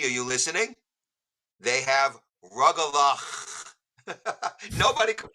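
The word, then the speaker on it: rugelach: So suddenly I was giving them a diction lesson on how to pronounce the CH in Hebrew, that it's a ch sound.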